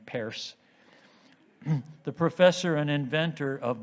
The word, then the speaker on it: Peirce: Channon, who imbued our Unitarian faith in the innate goodness of humanity, and the pragmatists like Charles Peirce, who pronounced his name Peirce, the professor and inventor of modern statistics.